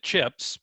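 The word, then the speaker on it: Chipps: I said Chips Market. Is it pronounced differently? Is it? That's correct. Chips with 2 P's for whatever Okay.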